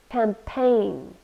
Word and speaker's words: campaign: or a cause fundraising campaign two syllables we stress the second one and in this case